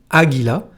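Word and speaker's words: águila: haut début du mot un exemple le mot aigles se dit aguila en espagnol il est donc féminin aguila et comme vous pouvez le voir l'accent tonique et placé sur le premier a pour cette raison si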